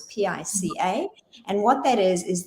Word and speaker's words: pica: into this thing called pica or pica depends where you're from and how you pronounce it it's pica and what that is